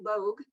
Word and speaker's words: Logue: It's Logue. It's like Vogue, but with an L, and it's been mispronounced since I was in kindergarten.